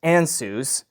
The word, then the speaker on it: Ansuz: I believe this is pronounced Ansuz.